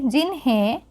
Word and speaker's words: जिन्हें: जैसे कि हम ह पढ़ते हैं, ह में एक पॉइंट लगी हुई है, एक बिंदु है, तो इसका बिल्कुल हल्के साउंड में न का लास्ट में उच्चारण हम लेंगे। जिन्हें, बड़े को एक आदर से, रेस्पेक्ट से हम उनको पुकारते हैं, बोलते हैं, लास्ट में न का उच्चारण किया जाता है, जो कि रेस्पेक्ट के भाव में आता है।